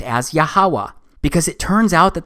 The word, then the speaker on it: YHWH: simple back then that it vocalized each consonant with an ah sound without specifically marking that sound between consonants so this yhwh it's pronounced yahawa it also turns out